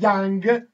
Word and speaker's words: Jung: Δεν ήξερε ότι πέρα προφέρεται Young.